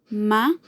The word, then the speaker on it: mamá: Mamá. Una palabra que su acento está en la última sílaba también y que termina en una vocal, A, por lo cual lleva tilde también.